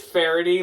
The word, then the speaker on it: Faherty: We say Faherty. We say Faherty. We say Faretti. I'm just going to say it like a pirate. It is Farity, like the word clarity.